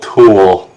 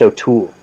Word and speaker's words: O'Toole: look at this old tool they're trying to heckle god he sucks it's just it's pronounced o'toole oh he's he's an